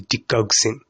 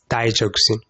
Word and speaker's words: digoxin: In this video, I'm going to be focusing on this certain drug which we call the digoxin, though some people choose to pronounce it as digoxin. Digoxin or digoxin, regardless of how you pronounce it, feel free to write it correctly.